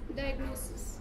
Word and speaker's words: diagnosis: The correct pronunciation is diagnosis.